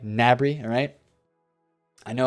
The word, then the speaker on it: Gnabry: Bri or open Meccano I said Mabrey incorrectly by the way Gnabry alright I know how